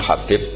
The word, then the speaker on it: Habib: Ada yang nulis Abi Abdurrahman Habib Asulami. Itu di harakatnya kitab itu ada yang nulis khubab. Yang benar Oh, nggih. Yang benar itu bacanya Habib.